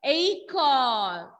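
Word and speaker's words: école: With laxo aigu, you can see with letter E, and the sound pronunciation will be A.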